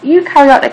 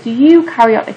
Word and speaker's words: eukaryotic: those will be clustered eukaryotic cells because they contain a nucleus and a helpful way of remembering that is think the start of the word eukaryotic is pronounced like you and think you are